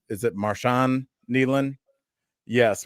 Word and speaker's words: Marshawn Kneeland: Is it Marshon Neland? Yes, Marshon Neland uh died at 24 years old.